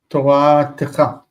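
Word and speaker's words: תורתך: Toratecha. This stress is on the end there.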